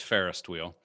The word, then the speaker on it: Ferris wheel: going to say is you did pronounce it wrong it's fairest wheel a fairest wheel i'm sorry i forgot